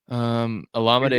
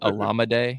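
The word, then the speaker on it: Olamide: I don't know why people can't pronounce his last name. It's very easy. It's Alameda.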